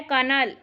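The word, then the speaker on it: colonel: कर्नल लगे हुए हैं अब इसकी स्पेलिंग है यह सी ओ एल ओ एन एल इसमें तो कहीं भी नहीं ठीक है तो इसलिए हम कंफ्यूज हो जाते हैं और इसका सही प्रनंसीएशन होता है कर्नल नेक्स्ट है यह भी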